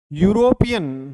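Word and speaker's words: European: रहा है अ school यूरोपियन बहुत बार एग्जाम में पूछा जाता है यूरोपियन य से प्रारंभ हो रहा है देखिए अगर ए ई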